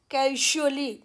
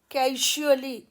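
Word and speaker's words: casually: रहे हैं, जैसे कैजुअली, तो मेरी आप आवाज़ सुनिए, यहाँ पर जो आवाज़ आ रही है यूजुअली, कैजुअली, यूजुअली, तो ये साउंड ना तो श की आवाज़ है ना ज की है, ये उनके बीच की आवाज़ है और उसका ये सिंबल है।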